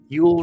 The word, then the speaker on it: Yule: Yule rhymes with cool.